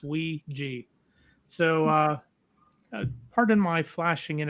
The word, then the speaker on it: Ouija: That is the correct pronunciation. It's Ouija.